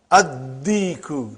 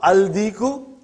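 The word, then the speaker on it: الديك: And when you will pronounce them with alif lam, you will not pronounce lam. Okay, look at this, brother. Come to number 3 and go down. Come to number 3 and go down. Addiku, not aldiku.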